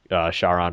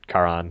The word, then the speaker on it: Charon: Whenever you die, you can just instead of losing your progress, you can just pay Charon or Charon, however you want to pronounce it, and hmm then like just warp all the way back to the last place you saved.